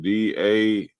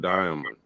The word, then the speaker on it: daimonion: So Merriam-Webster, the first definition, he said DAIMONION. Hey, what's the daimonion? It's not diamond. He tried to pronounce it diamond. Throw y'all off. That's day. Diamond is DIA. This is DAI. Daimonion.